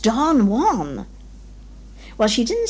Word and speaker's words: Don Juan: to embarrass you but it is not don joanne it is pronounced don juan well she didn't say